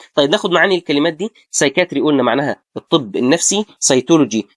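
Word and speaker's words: psychiatry: سايكاتري زي ايه؟ سايتولوجي. الاثنين نطقتهم ازاي؟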